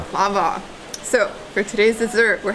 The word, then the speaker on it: baklava: I thought you called this baklava. At least that's what we say in my house. And the waiter just corrected me. Apparently it's Baklava. Baklava. Baklava.